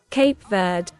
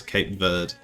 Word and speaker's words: Cape Verde: Cape Verde. Cape Verde. There you go. The British pronunciation is Cape Verde.